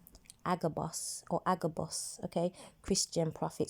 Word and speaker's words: Agabus: say AG a boss that's how you you pronounce it agabus a Christian Prophet so I went to go